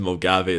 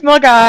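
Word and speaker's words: Milngavie: I know it's Mulgai. I know. I've never pronounced it Mullingavi. And you can fact check that. To be honest, I when I was younger, I used to call it Mulgavi. I was like, where's this place called Mulgai everyone talks about? I've never seen it on signpost anywhere. And someone was like, that's how you pronounce it.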